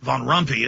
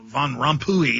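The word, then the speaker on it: Rompuy: Union Herman Von rui I was call him Herman Von rumpy it's Von rui is how it's actually pronounced utterly ridiculous sorry if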